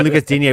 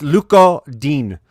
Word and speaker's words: Lucas Digne: And I'm going to stop saying Lucas Digne. We spent a lot of time looking into how to say his name. It's Luca Dean.